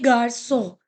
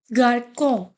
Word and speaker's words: garçon: Similarly, garçon. So if you'll not put it, we will pronounce it as a garcon. Garcon. Okay. So it is garçon.